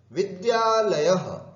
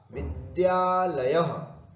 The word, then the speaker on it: विद्यालयः: विद्यालयः, शुद्ध उच्चारण करें, द्या द्या द और या, विद्यालयः। कुछ लोग विद्यालय बोलते हैं, ध्या ध्या नहीं है, विद्यालयः, विद्यालयः, विद्यालयौ, विद्यालयाः प्रथमा, विद्यालयं, विद्यालयौ, विद्यालयान् द्वितीया इति।